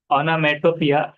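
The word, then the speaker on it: onomatopoeia: तो ऑनोमेटोपिया, ऐसा उसको प्रोनाउंस करना है।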